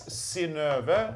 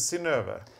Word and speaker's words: Synnøve: It's Synnøve, and it's spelled S-Y-N-N-O-V-E. The O has a slash, which is so that it can be pronounced as Ö. So yeah. This is Synnøve.